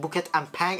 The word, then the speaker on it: Bukit Ampang: Yeah, that's a correct pronunciation, Bukit Ampang.